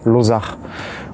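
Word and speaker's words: Lozac'h: de famille Lozac, et il y a un C apostrophe H, donc normalement en breton on prononce Lozar.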